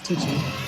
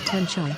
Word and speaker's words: Tiji: In the Mustangji Lobo dialect it is pronounced as Tiji, or Tenchai, and is a part of the meditation practice based on the Tantra texts related to Vajrakila.